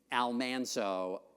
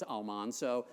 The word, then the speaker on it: Almanzo: years were I mean she and her husband Almanzo I hate the pronunciation but that's really how you're supposed to pronounce it on the TV show was almano which is much more pleasing to the ear